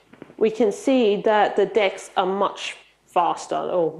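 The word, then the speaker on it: deque: at the top so decks all double-ended cues the documentation says it's pronounced decks so I'm going to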